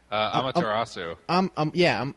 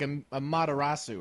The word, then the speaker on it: Amaterasu: I feel like there's a more Japanese way to say it, like a Materasu or something. Amaterasu. Well, it's Japanese, so you can pronounce every syllable. Yeah, you got to really get in there.